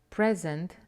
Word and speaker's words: present: Present, the gift, the noun, and present, the verb.